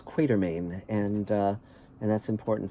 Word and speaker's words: Quatermain: of h writer haggard it's not quartermaine it's quatermain and uh and that's